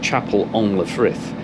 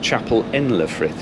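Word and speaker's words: Chapel-en-le-Frith: school French would leave me to call it Chapel on the thrift it's actually pronounced Chapel in Le frith here crikey this weather really is bad I'm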